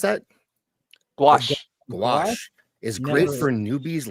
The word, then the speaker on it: gouache: How do you pronounce that? Gouache.